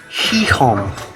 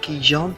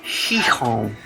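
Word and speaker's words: Gijón: Gijon is how you pronounce it, so we just found out it's not Gijon, it's Gijon.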